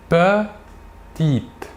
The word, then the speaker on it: petite: En fin de mot, le E ne se prononce pas. Il est dit muet. Nous dirons donc petite.